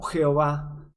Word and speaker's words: Yahvé: Que de ahí viene la palabra hebrea, Yahvé o Jehová. Pero la palabra más correcta es Yahvé o Yah.